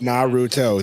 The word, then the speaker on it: Naruto: Naruto? Naruto.